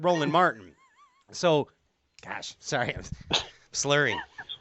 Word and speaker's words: Roland Martin: His name rhymes with Ronald Morgan, but it sounds like Smolin Smartin, but Roland Martin.